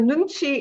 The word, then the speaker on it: nunchi: korean concept right so nunchi is uh eat two syllables because it's two words nun means i and